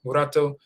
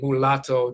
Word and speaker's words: murato: it murato muratoni murato murato they don't say mulatto they say murato they're not even used to forming the L with their tongue.